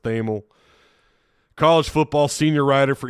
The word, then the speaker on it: Thamel: who who he is thel I think it's pronounced theml college football senior rider